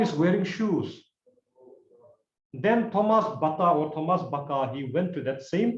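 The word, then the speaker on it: Baťa: It's a Czech word, actually. It's a Czech name. There's one person called Thomas Bata. It's not pronounced Bata, it's called Baka.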